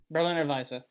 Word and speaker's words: Berliner Weisse: Berliner Weisse. Just that's how they say it in its native language.